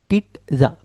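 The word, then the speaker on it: pizza: पिज्ज़ा नहीं बोलोगे, पिज्ज़ा ना, पिज्ज़ा, पिज्ज़ा। आप पिज्ज़ा भी बोलो, पिज्ज़ा। पीट, टा का साउंड आना चाहिए ये वाली जगह पे। ठीक है, पिज्जा। क्लियर, समझ आया? ठीक है। So that's the correct pronunciation.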